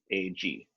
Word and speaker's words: sinangag: So garlic rice is sinaag. That's how you pronounce it. Let me spell that in the chat. Sinangag.